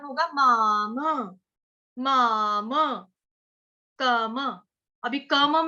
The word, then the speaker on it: मामकम्: अगला वाला म भी पूरा है, तो क्या उच्चारण होगा, माम, माम, कम।